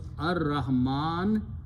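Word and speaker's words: الرحمن: It will remove this sukoon here and pronounce ar-Rahman.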